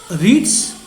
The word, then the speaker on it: writs: So these writs, WRITS, it's pronounced like writs, not rights. So you must read it writs.